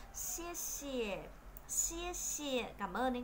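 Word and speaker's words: 谢谢: Thế và chữ xì thì phát âm tương tự như chữ c trong tiếng Việt. Xie xie, xie xie, cảm ơn đấy các bạn.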